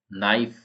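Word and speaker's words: knife: नाइफ, तो नाइफ में के साइलेंट है।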